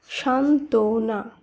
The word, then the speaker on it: সান্ত্বনা: শুদ্ধ উচ্চারণ হবে উজ্জ্বল একইভাবে সান্ত্বনা যেখানে শব্দটির মধ্যে দন্ত নয় তক্ত ব্যঞ্জন রয়েছে এবং তার সঙ্গে বফলা যুক্ত রয়েছে শব্দটি শুদ্ধ উচ্চারণে এই বফলা কে বাদ দিয়ে শুধুমাত্র দন্ত নয় ত যুক্ত ব্যঞ্জন সহযোগেই শব্দটিকে উচ্চারণ করতে হবে তাই শব্দটি শুদ্ধ উচ্চারণ হবে সান্ত্বনা একইভাবে মহত্ব শব্দে তয়